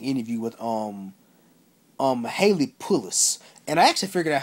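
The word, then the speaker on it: Pullos: to an interesting interview with um um Haley pulis and I actually figured out how to say her last name um she actress that plays Molly um Haley P her name is Haley pulis I been pronouncing pulos and pulos her name is Haley pulis but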